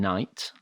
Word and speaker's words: knight: to spell in english there's a silent k in knight as in knight four silent k's in